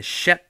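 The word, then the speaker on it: Schepp: D'ailleurs, je veux faire un petit clin d'œil à John Shep. John, ça s'écrit comme John. Shep, ça s'écrit S-C-H-E-P-P.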